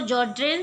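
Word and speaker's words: Sjögren: So in this S is silent. So Sjogren syndrome, this is an autoimmune disease which cause deposit of immunocomplex in the glomeruli, causing them to be inflamed.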